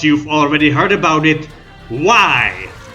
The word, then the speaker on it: Viy: already heard about it why if that is the way it's supposed to be pronounced this card makes a